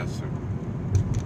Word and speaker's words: Esther: Esther, S-T-E-R? H-E-R. Oh, yeah, Esther. Yeah. You put that H in there. You know, that's silent.